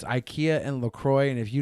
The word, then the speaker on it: IKEA: IKEA is not pronounced IKEA in Swedish. It is IKEA.